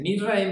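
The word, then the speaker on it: מצרים: Misraim viene a ser un nieto de Noé. Y de hecho en hebreo, ¿cómo se dice Egipto en hebreo? Se dice Misraim.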